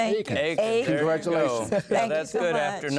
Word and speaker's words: Eakins: Because we have the wonderful Eakins, and Paula Eakins. Okay. You pronounce it correctly. Not Eakin, but Eakins.